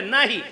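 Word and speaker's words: know: spelling वेगळी आहे एकाची के एन ओ डब्ल्यू आहे आणि एकाची एन ओ आहे उच्चारामध्ये एकाला क लागलेला आहे तसं उच्चारात असतानी नो असं म्हणावं लागतं परंतु उच्चार बाहेर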